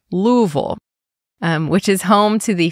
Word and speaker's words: Louisville: It's actually only about an hour away from the most populous city, Louisville, or as they say there, Louisville, which is home to the famous Kentucky Derby horse race.